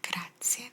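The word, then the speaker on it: grazie: gra while you're traveling it's not graat it's gra gra a lot of the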